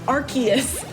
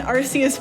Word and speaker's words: Arceus: from avery who says i'm gonna call nonsense on the pokemon company pronouncing god horus's name as arceus i'm with you there i was definitely an arceus person and i have not stopped saying it that way i still say arceus